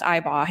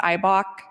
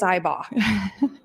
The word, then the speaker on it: Ibach: we have the time her name is pronounced ibba it's not ibok it's not ibach there are no very it is iBall um written by Mike